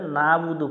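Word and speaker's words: نعبد: এখানে অনেকজনে ভুল করে না বুদু পরে আইনটা উচ্চারণ করে না, আমরা গলা চেপে উচ্চারণ করব না বুদু।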